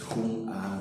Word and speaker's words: Jung: de Carl Gustav Jung, así se pronuncia en alemán este apellido, Jung, J-U-N-G.